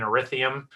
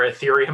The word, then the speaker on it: ethereum: pay the net paycheck in erithium or ethereum i keep saying it wrong you make the net